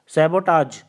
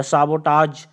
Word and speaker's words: sabotage: सैबोटाज या साबोटाज, इसका मतलब होता है deliberate act of destruction. साबोटाज, so that is how they pronounce it in foreign countries, especially UK and US.